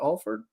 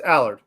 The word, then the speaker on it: Allard: how do you say is it Alford is that right Allard Allard it's Allard Allard yeah yes Allard and uh